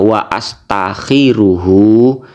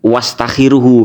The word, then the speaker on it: wa astakhiruhu: Mestinya ya jenengan baca wa astakhiruhu, misalnya begitu mestinya. Wa astakhiruhu subhanahu wa ta'ala salisan. Misalnya mestinya begitu bacanya, bukan wastakhiruhu, karena bukan hamzah wasol.